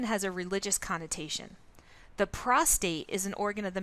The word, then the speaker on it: prostate: the body to another the term prostate is frequently mispronounced as prostrate with an extra are added prostrate is a position